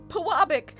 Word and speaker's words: Pewabic: I had a heart attack when I first I had all my southern friends pronounce it. They all said Pewabic. And then I Googled it and thank God it's Puabic.